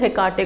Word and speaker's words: Hekate: हम किस गॉडेस को पुकारें, तो आप गॉडेस हेकाटे को पुकार सकते हो, HEKATE। ओके, ये इनका स्पेलिंग है, ऐसे प्रोनाउंस होता है।